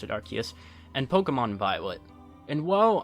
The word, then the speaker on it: Arceus: I tried getting back into the series with Legends Arceus, yes I pronounce it Arceus, and Pokémon Violet, and while I did have